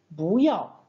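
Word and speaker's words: 不要: Ça donnera bouyao. Bouyao. Voilà, vous avez vu en pinyin, on écrit bouyao, mais on va prononcer Bouya.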